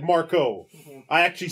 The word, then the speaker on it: Marco: Marco, not Marca. I said Marco.